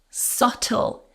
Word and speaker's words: subtle: And our final word, the hint was subtle. Silent B.